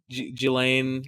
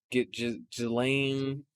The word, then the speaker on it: Ghislaine: We'll say Ghislaine Maxwell. Yeah. Jeffrey Epstein's girlfriend, ex-girlfriend. Oh, like, Ghislaine. It's pronounced not how it's spelled.